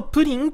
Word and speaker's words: pring: 思うんですが無料送金アプリのプリンと読みますまあもともとこのアプリ